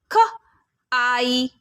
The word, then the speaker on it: kite: और जब magic E एंड में आ जा रहा है, plus E becomes kite, kite। E silent है, but because of this magic ई हम आई लेटर के लॉन्ग साउंड से पढ़ रहे हैं।